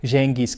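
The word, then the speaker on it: Gengis: mundo de su abuelo Jengis Kh o Hengis Khan, que en realidad es la pronunciación más apropiada.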